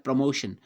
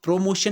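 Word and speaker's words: promotion: हम प्रमोशन बोलते हैं, प्रोमोशन नहीं, प्रमोशन ही इसका उच्चारण होता है।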